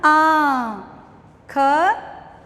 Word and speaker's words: आँख: आ की मात्रा आ, फिर चंद्र बिंदु, चंद्र बिंदु लगा तो ये बना आ, ख आँख।